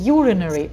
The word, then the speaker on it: urinary: Urine и urinary. Ударение падает только на U.